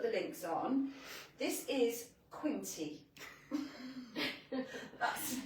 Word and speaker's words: Quinty: This is Quinty. That rhymes with some other words that we use now and again. Quinta. Quint. It's not A, it's E. E.